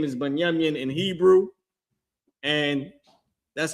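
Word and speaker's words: בנימין: Their name is Binyamin in Hebrew, and that's how you pronounce that.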